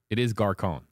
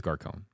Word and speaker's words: Gascón: I don't know why I kept mispronouncing his last name. I just kept getting caught up in the accent. There's an accent on his name, and I keep mispronouncing it, and the accent is throwing me off.